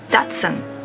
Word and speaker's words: Datsun: brand in Japan anymore it sounds like English speakers pronounce it Datsun but Japanese people probably don't recognize it because our pronunciation is right sounds so different comes from two words